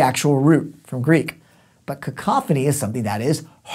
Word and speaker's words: cacophony: context next up cacophony it's not cackle phone II got that call phone you know cacophony we're fun to say